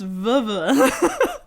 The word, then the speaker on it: Vevey: e v a y so over there it's pronounced viva and here it's v b so there you